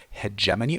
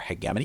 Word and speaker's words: hegemony: And this is hegemony or hegemony. You can pronounce it either way.